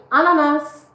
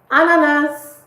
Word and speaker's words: ananas: Ananas. Ananas. Ananas. The S is pronounced.